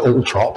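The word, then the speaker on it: Althorp: the family home and it's written all four and most people pronounce it like that but I have heard people call it all trop and she was buried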